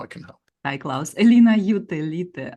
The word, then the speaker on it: Elina Jutelyte: My name is Klaus, and I'm here today with Elina Jutelute.